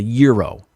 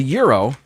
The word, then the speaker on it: gyro: very nice but uh you pronounce this uh without the g really a gyro um that's the way uh we gringos say it um so anyway the euro if you're not familiar